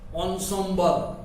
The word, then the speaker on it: ensemble: तो एंसेम्बल्स means pronounce ensemble.